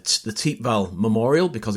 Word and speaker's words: Thiepval: as matt just just said um it's the teep val memorial because it's on the t val ridge uh notice the pronunciation it looks like thiep vowel but it's actually pronounced teep val here um it's a memorial to the missing